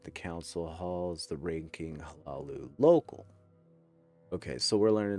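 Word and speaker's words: Hlaalu: Is that the pronunciation you go with, V? Hey, how you doing, Bobby? Hlalu. Yeah, you honor the H.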